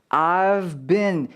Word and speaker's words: I've been: 이 I've been 이라는 단어들 사이의 발음으로써 V와 been, V와 B 발음을 여러분들이 구별해 주셔야 된다는 거죠. I've been이 아니라 I've been 이라고 확실하게 V 발음과 been의 B 발음을 나눠 주셔야 된다는 거예요.